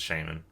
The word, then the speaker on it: Shaymin: There's a little Shaymin. And shh How else would you say the name? Shaymin Shaymin It's Shaymin.